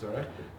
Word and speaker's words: Zorach: for the visas was Zorch Verhaftig. His son teaches here in, actually his son said it's Zorach, you have to pronounce it Zorach, but his son Yaakov